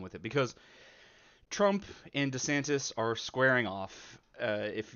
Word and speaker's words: DeSantis: case you're unaware Ron DeSantis I'm sorry D santis it's so awkward to say but apparently that's all his name's pronounced I don't know I